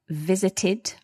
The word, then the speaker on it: visited: So basically for all verbs which end in the letters T or D, we pronounce the ed D as itid. So we have visited.